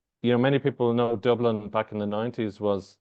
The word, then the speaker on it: Dublin: the softest ones but proper pronunciation of that would be probably Dublin so Dublin there you go emphasis on the Dublin and Dublin there you go yeah not